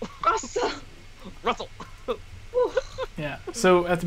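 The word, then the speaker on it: Rusl: So yeah, but it's spelled weird. R-U-S-L. So it's not like Russell, like R-U-S-S-E-L. It's like Russell. Russell.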